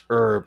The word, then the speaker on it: herb: want to be like, why are you pronouncing herb as herb and not her? It's like herb. Why aren't you pronouncing the H? It's like, well, because that word's actually French in origin to where they don't pronounce the H.